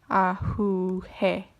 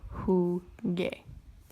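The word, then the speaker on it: jugué: or a game so if I conjugated it as if it just as if it were just a regular verb I would have whoo hey so again not preserving pronunciation that's wrong so I applied the rule and I get the correct form of whoo gay another rule for imperfect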